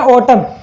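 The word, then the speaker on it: autumn: ये हो गया के पहले एल आ रहा है तो यहाँ पर ये भी साइलेंट हो जाएगा। ऐसे हो गया ओटम, इसे बोलेंगे ओटम।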